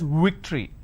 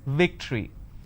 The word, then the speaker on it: victory: word which is victory they pronounce this as victory now remember what I said if you have the letter V you need to bite your lower lip it's victory and if it's w you